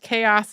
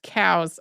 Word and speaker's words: chaos: about the tour guide who pronounced chaos as cows I had a professor